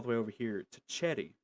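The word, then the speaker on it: Xherrie: way over here to Cheddy, which is X H E R R I E. I know that's a weird it's a weird way to pronounce it, but you're going to have to get used to it.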